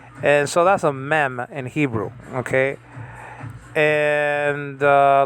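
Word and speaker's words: מם: And so that's a mem in Hebrew, okay? And like in the word Moshe, you see that style of an M there. It's called mem, M-E-M.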